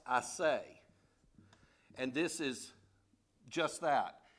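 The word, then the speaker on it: assay: and there's a word in the hebrews called i say a-s-s-a-y but it's pronounced i say and this is just that it's a purification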